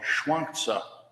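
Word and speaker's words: Zhuangzi: man who lived about 200 years later called schwank and it's it's the same you all the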